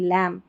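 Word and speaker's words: lamb: जैसे इसको थंब नहीं पढ़ेंगे, थंब पढ़ेंगे, लैम्ब नहीं लैम्ब. और यहाँ पर इसमें भी बी साइलेंट है, इसको डेट करके पढ़ेंगे, डेप्ट नहीं पढ़ते, ठीक है.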